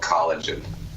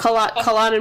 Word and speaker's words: Culloden: It's not the Battle of Collagen. No, it's Culloden Moor.